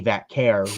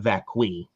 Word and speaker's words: Vaquer: And hopefully Nikki Bella this time gets Stephanie Vaquer right and not Vacqui. And pronounce Stephanie Vaquer's name properly, please. Oh my god, Please. that was so bad. Her and Brie botched her last name.